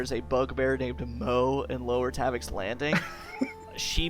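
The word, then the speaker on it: Moh: It's M O H. Yeah, that's how he spells it. It's just pronounced Mo.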